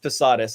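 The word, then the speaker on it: Posadas: The first 2, Posadis or Posadis, it's pronounced Posadis, I'm 99% sure.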